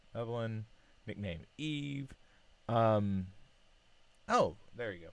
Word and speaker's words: Evelyn: So, hey, I'm Evelyn, pronounced like Evelyn, nickname Eve.